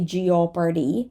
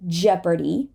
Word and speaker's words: Jeopardy: tough remember tough Jeopardy we're not going to say Gio party Jeopardy Jeopardy leopard leopard people right dark